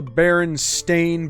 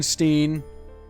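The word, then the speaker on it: Berenstain: next we have the baron stain Bears it has always been Baron stain there's never been Steen there was no Mandela effect there was no alternate universe you just said it wrong because it's a more common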